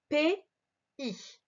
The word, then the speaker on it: pays: Alors, dans les pays, ce mot-là se prononce pays.